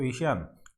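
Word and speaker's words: ASEAN: तो एशियान का तो आपको एशियन इंडिया, एशियन नहीं एशियान बोलिए इसको, सॉरी यदि मैं एशियन प्रोनाउंसिएशन कर रहा हूँ इसका, तो इसको आप एशियान बोलिए।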